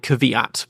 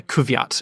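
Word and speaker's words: Kvyat: I believe it's basically Danielle Kat is not not like kavat but yeah Kat is how he just meant to say it in Russian Robert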